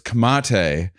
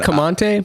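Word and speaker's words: Comte: kamante buffons um camante someone pointed out to me that I've been throwing an n in there it's kamate oh it's not command I've been saying it wrong the whole time never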